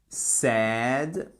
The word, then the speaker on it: said: courant to say say attention à la prononciation tu say said said donc là ce n'est pas sa say said s she said she